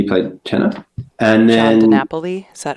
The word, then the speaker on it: DiNapoli: And then John DiNapoli, is that how it's said?